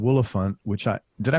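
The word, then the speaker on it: Woolaphant: You got a song on there called Willifant, which did I pronounce it right?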